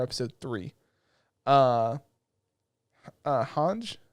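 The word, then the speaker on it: Hange: three uh uh uh hanj I think that's how you actually say her name it's supposed to be like a German name whatever Zoe I guess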